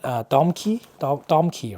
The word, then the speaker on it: Domke: Is it by the brand Domkey, right? That's how you pronounce it.